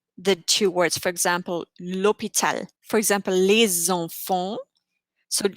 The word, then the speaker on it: l'hôpital: The letter H is never pronounced. We had that with l'hôpital, hospital.